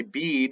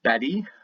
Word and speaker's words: Bede: This is true recorded by Bede as well, or Betty is really how you pronounce it.